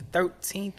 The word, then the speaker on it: TH1RT3EN: I want to say the 13th or something. Like I don't want to butcher it, but 13, but it's spelled TH1RT3EN.